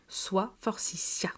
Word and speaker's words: forsythia: Comme le rappelle le dictionnaire La rousse universelle de 1923, la prononciation finale se fait en s forcia.